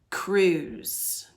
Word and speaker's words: cruise: Cruise. Different pattern. I want to take a cruise someday. Cruise. Give you a hint. It's like bruise, and it has a silent letter at the end.